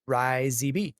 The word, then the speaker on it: RyZB: I'm in here a lot and thought I'd let you know my name is pronounced RyZB.